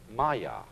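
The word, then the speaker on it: māyā: And in Indian philosophy, the fundamental word for this kind of thing is the Sanskrit term maya. I'm going to write that down for you pronounced Maya.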